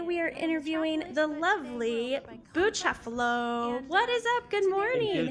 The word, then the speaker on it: Bucefalo: Well, Bucefalo, am I pronouncing your name correctly? Yes, Bucefalo actually Beautiful. is the right pronunciation.